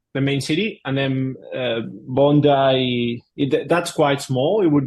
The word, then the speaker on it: Bondi: it Bondi is that how you say it Bondi yeah yeah it's a s Beach there yep